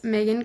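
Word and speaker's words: Maegan: My Instagram is Megan Photo, but my name is spelled kind of weird, so it's M A E G A N.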